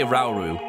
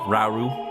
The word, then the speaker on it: Rauru: you pronounce his name i say rauru not like i don't accentuate the ira uru just they know rauru or rxd that's some